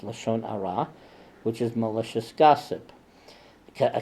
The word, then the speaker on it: Lashon Hara: rah Lashon Hara or in the onion is pronounced Lashon Hara which is malicious gossip a catastrophe is musty